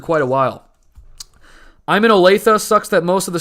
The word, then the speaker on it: Olathe: pronounced your town right you probably thought i was going to say olathe didn't you you guys probably thought that i was going to say olathe but it's actually olathe and the reason why